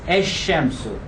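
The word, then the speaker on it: الشمس: Look, the lam in the Arabic word the sun, which is ash-shams, assimilates. It is written as al-shamsu. Look, lam is here in writing, but in pronunciation, articulation, it assimilates. It becomes ash-shamsu.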